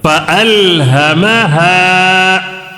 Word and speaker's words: فألهمها: فا زبر فا, حمزہ لام زبر ال, فَأَل. ہا زبر ہا, فَأَلْهَا. میم زبر ما, فَأَلْهَمَا. ہا الف زبر ہا, فَأَلْهَمَهَا.